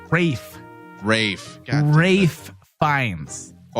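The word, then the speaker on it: Ralph Fiennes: pronounce that for us he pronounces it ray Fiennes Wow ray Fiennes one more time ray fine they the first name ray and you would be incorrect I thought he pronounced like that Rafe Rafe and Wraith finds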